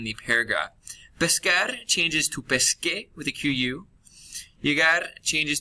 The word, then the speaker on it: pesqué: If you were to drop the AR and put an E on, that C would become a soft C and would sound like an S. So in order to avoid sounding like pesé, the QU has to show up to keep that hard k sound, pesqué.